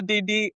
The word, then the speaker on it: Didi: And you say your nephew, Didi, I don't want to pronounce it like the rapper. Yeah. Didi. Then just say Didi. Didi.